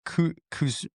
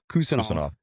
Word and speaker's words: Kuzmanov: You have Kuzmanov. That's not Kusanov.